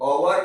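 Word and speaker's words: hour: क्योंकि एच जो है ना वो इंग्लिश का कॉन्सोनेंट है, पर वो हिंदी का स्वर है, यहाँ पे जो आवर बोलते हैं, ठीक है।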